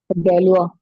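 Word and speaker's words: Galois: हैं इसके बारे में प्रोनंसिएशन एक्स्ट्रा गलवा गलवा तो मैं केवल ये कहना चाह रहा था थोड़ा फ्रेंच जितने भी वर्ड है उनमें ध्यान रखिएगा उनके स्पेलिंग कुछ और होती है पढ़ते समय कुछ और पढ़ते हैं और फादर ऑफ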